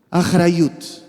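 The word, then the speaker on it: אחריות: Achrayut, achrayut.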